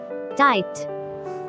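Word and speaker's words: tight: Silent letter G এইচ। টাইট, টাইট, টান টান, টাইট। টাইট, টান টান, টাইট। এখানে জি এইচ দুটি লেটারই অনুচ্চারিত থেকে যাচ্ছে।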